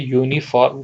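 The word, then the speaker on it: uniform: यू है यहां पर हम जो प्रोनंसिएशन कर रहे हैं हम इसको ऐसे कर रहे हैं वाई ओ यू यू उसके बाद हम नी फॉर्म कर रहे हैं ठीक है तो ये हमारे जो है वो प्रोनंसिएशन निकल रही है यूनिफॉर्म की अब यहां पर जो है हमारी स्पेलिंग जो है बेसिकली जो है वो यू से तो स्टार्ट है लेकिन जो आवाज है वो वाई से निकल रही है जो कि एक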